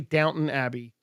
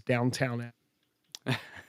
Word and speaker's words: Downton Abbey: I learned to say Downton Abbey from watching many other people mispronounce it as Downtown Abbey.